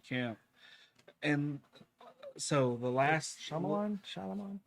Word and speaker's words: Shyamalan: And so the last Shyamalan.